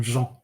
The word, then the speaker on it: Jean: Now, I've been calling you Jean. I've just realized. Is that how you I've just been reading it. Is that how you pronounce your first name? No, I pronounce my first name Jean.